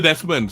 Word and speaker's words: Desmond: Okay, apakah anda boleh jangkakan dengan situasi atau hubungan dia I keep getting the surname wrong. It is Desmond, isn't it?